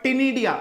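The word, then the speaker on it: Ctenidia: gills which are called टिडिया सी C silent है हम लिखेंगे लेकिन बोलेंगे नहीं ओके दिस गिल्स आर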